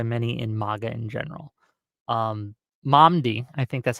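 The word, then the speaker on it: Mamdani: Momdi, I think that's how you pronounce his name, recently won the primary runoff thing they had Mhm.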